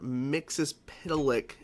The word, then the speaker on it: Mxyzptlk: So first of all, I'm probably not going to be able to pronounce his name correctly, so I listened to it just now. Mr. Mxyzptlk. I know people always mispronounce that fucking name of this character, but I'll just say Mixie or whatever they said, or whatever.